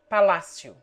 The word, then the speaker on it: palácio: The following take the accent on the antepenult.